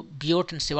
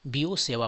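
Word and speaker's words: Biot–Savart: तो यहां पर बीओ एंड सेवा इसको बियट एंड सेव आप पढ़ सकते हो। लेकिन यह फ्रेंच पर्सन है और फ्रेंच में तो आपको पता ही है कि वो किस तरीके से प्रोनाउंस किया जाता है। इसको वो लोग बीओ सेवा पढ़ते हैं।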